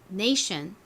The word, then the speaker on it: nation: T, I, O, N 덩어리로 션 발음이 납니다.